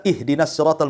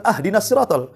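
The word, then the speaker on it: اهدنا: contoh Manya kita baca ihdinatal mustaqim kan begitu kita baca ahdiniratal mustaqim harusnya di kasrah kita fathah pula tuh harusnya ihdinat kita katakan ahdin itu kan beda artinya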